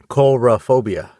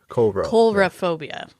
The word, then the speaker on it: coulrophobia: Coulrophobia. Coulrophobia. Coul as in coulrophobia. Yeah, cool.